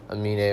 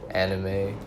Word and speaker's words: Amine: Yeah, so next up on my list would have to be Amine, or more commonly mispronounced Anime, or some variation of that.